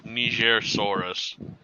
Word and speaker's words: Nigersaurus: the Nigersaurus. What? That's how you pronounce it, you idiot.